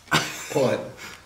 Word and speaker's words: pud: It's pronounced pood, but with less emphasis on the O. How? It's not pood, you sausage. Exactly. Stop being weird. Pud. Pud. Pud like dud.